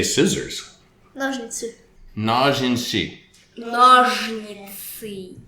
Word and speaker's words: ножницы: Ножницы. Ножницы. Ножницы. Nojniczny.